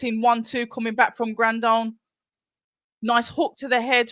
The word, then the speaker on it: Grandone: Oh, it's Grandone. I've been pronouncing it wrong all night.